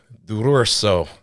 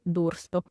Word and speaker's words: D'Urso: excited to be joined today by Miss Dururso. Did I over-enunciate? Yes. Tell me the proper way to say it, because I knew I was going to butcher it. Oh, no, it's okay. It's Dursto.